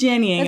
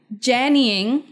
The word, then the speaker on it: Jannying: Okay, well it is Jannying, and we're not doing a cuckoo and a cuckoo again. Jannying.